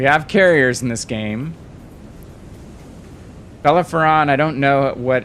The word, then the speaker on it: Bellerophon: And Belarus, I can't pronounce it. Matt Smith, help me. It's a British ship. Hitman, help me. Bellerophon, right? Bellerophon.